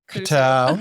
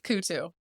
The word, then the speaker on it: Coutu: It's Coutu. Coutu. Technically, it's Coutu, but I cannot say that, so I just say Coutu. My father-in-law says so Coutu. Almost like without the O, just yeah, Coutu.